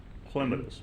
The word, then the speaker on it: Clematis: Palm Beach as well I think it's pronounced here Clematis Street my wife corrects me every time I say that she's a Master Gardener I don't fight with her she calls it a Clements but whatever whichever it is